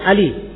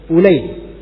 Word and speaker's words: Ulayy: Biasanya kalau ain lam ya itu lisan kita akan membaca Ali. Tapi ini khusus nama ini bukan Ali bacanya, dibaca Ulay.